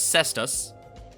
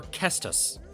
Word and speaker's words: cestus: Kestus? Okay. It's most commonly pronounced as Cestus. Or Kestus. Which is closer to its Latin origin, apparently, according to this. The fly. But yeah, it's a Cestus.